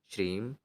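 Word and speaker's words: श्रीं: ॐ श्रीम महालक्ष्मी नमः इस मंत्र का आपको उच्चारण करना है श्रीम जिनको ना समझ में आया हो तो मैं यहां पर लिख कर के दिखा देता हूं यह रहा आपका श्रीम ओम श्रीम महालक्ष्मी नमः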